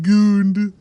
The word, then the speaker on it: Gund: That is, it's spelled G-U-N-D, but it's pronounced goond.